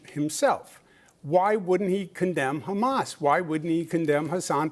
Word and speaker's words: Hamas: and he is talking about how he loves Hamas. you you know you turn it on and he looks directly into the camera and says I support Hamas except he pronounces it Ham ass.